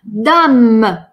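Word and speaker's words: dame: «Э» на конце не произносим. Но мы помним с вами, что, во-первых, «д» очень твердая такая. Ну, хорошо, не твердая, не мягкая. Она такая взрывная. «Д». «Д». «Дам». Это хорошая «а». Это не «дам».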